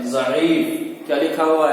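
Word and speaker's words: ضعیف: देखिए इसको हिज्जे कैसे करते हैं। ये क्या लिखा हुआ है? ज़ईफ। क्या लिखा हुआ है? ज़ईफ।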